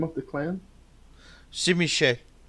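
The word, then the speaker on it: Tzimisce: Simiche. Well, that's a lot different than How it's pronounced in Romanian, anyway. Yeah, Okay. but in Portuguese we say Chizimici, which is bizarre.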